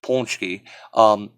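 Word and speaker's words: pączki: and punch keys or like I said properly pronounced punchy are these like fried doughnut things ungodly delicious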